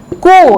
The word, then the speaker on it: coup: ওই একই, আর্ম দিয়ে মনে রাখবেন, আর্ম মানে কি ফায়ার আর্মস, অর্থাৎ ক্ষেপণাস্ত্র, অস্ত্রকে বোঝায়। কু, এটা কিন্তু পিটা উজ্জ্ব থাকবে জানেন তো, COUP,